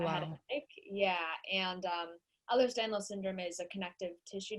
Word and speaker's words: Ehlers-Danlos: But you were diagnosed with, and tell me if I'm pronouncing it wrong, Ehlers-Danlos Syndrome. Yeah, Ehlers-Danlos.